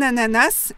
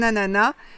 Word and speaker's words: ananas: On peut dire un ananas et prononcer le S final, ou bien dire un ananas et ne pas prononcer le S final. Un ananas, c'est mignon.